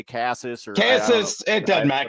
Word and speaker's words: Casas: So Triston Casas over a half a RBI against KC, plus 165 there, available at a DraftKings.